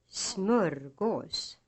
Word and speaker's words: smörgås: Hustru, långsamt, någon, smörgås. These words are written as hustru, långsamt, någon, and smörgås, but pronounced, using accent 2, with the second syllable almost as loud as the first.